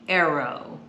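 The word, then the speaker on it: Airo: Okay, these are called the Arrow. So yeah, it's not like A-R-R-O-W, it's A-I-R-O.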